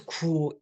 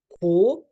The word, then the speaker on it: 고: 이거 먹고, 이거 하고, it becomes 구 in casual conversation pronunciation. 고, you really have to purse your lips or like this to like hollow your cheeks. That's too much, so we casually kind of get lazy and we end up pronouncing 고 into 구 for like making things into connective as well.